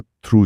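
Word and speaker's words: through: कफ का उच्चारण कॉफ जैसा है, डो का दो जैसा, थ्रू का थ्रू जैसा और डो का फिर से डो जैसा।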